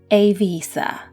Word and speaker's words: Eivissa: per year more interestingly its name varies tremendously across different nationalities there are just as many pronunciations as there are clubs on the island from Ibiza to Ibiza to Ibiza and of course the native / correct one a visa I personally prefer to